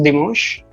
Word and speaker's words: dimanche: Always remember, in French language, an gives you a sound of on, not on, but on. All right, on.